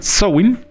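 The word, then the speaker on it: Samhain: un antiguo festival celta conocido como sowing así se pronuncia show in que significa fin del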